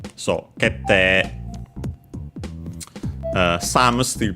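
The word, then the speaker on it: 決定: doubling of the consonant, that the E after an E is usually pronounced nowadays, at least in Standard Japanese, as long E is the lengthening of the vowel E. So, kete.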